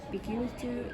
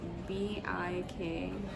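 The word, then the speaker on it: Bikeltu: Bikutu is Bikeeltu.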